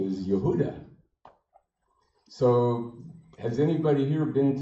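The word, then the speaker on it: יהודה: a part of Israel called Judea its original pronunciation is Yehuda so has anybody here been to Dwarka so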